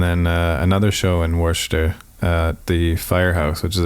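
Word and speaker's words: Worcester: at Clark University in in warer okay it looks like Worchester to me but that's how they say it down there yeah I don't even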